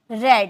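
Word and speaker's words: read: मैं पढ़ा था, आई हैड रेड। इसे रेड में प्रोनाउंसिएशन करेंगे क्योंकि रीड फर्स्ट फॉर्म है, सेकेंड और थर्ड फॉर्म रेड हम बोलते हैं।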